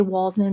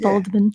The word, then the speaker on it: Waldman: we would we would bastardize it and say Waldman but they pronounce it baldman exactly so the big scene in here is